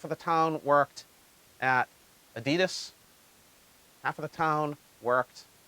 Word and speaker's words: Adidas: In America, we call it Adidas, but in Germany, it's Adidas for Adi, Adolf, Dassler, Adi, Das.